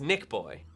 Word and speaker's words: NichBoy: It's pronounced NichBoy.